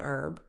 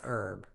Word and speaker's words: herb: while Brit say tomato herb Americans often drop the H saying herb while Brits pronounce it fully as herb these differences can make